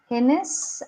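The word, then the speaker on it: heinous: So, this is how we spell it. Hennis act we say it which is extremely wicked genius act.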